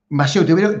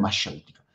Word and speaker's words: mayéutica: Maéutica. Te lo estoy pronunciando en argentino. Maéutica. Maéutica. Podría decir mayéutica, ¿no? Pero es mayéutica.